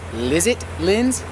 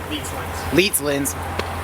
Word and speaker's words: Leets Lins: So, you guys also may know him as Lizit Lins? Leets Lins. I always say it wrong.